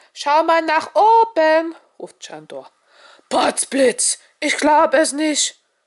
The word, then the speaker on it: Sandor: Ich heiße Chandor. Chandor wird übrigens mit S geschrieben und darf auch wie ein Sch ausgesprochen werden.